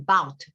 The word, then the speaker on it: about: about 거의 발음이 안 된다고 생각하시면 돼요. 마치 맨 앞에 A 철자가 없는 것처럼 발음하시면 about 이러면 더 정확한 발음이 돼요.